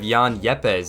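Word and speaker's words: Juan Yepez: for winning the game next player we have Jan yepez is how you pronounce his name he was pinch hit and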